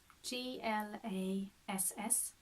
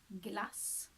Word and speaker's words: glass: cream which is glass GL a SS glass glass ah la glass this is the same short short a there so we have it